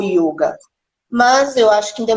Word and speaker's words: yoga: no vocabulário né é a pronúncia correta pronúncia antiga na escrita é yoga é o ioga não é a yoga não é não é uma coisa aberta mas eu acho que é claro é um manta né cada vez que você pronuncia alguma coisa você deve pronunciar da forma correta que é o yoga mas eu acho que